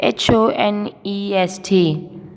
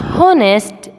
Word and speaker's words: honest: Can you find the word honest, which spelling is HONEST? Here is that word. It's not honest, it's honest. What? Honest. Because some words has silent letters, which is written but not being said.